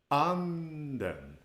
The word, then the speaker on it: anden: You start at a higher pitch and you end up on a lower pitch. anden, anden. This is called an acute accent in Swedish, an acute pitch accent. So when we pronounce the word in that way, it means the spirit.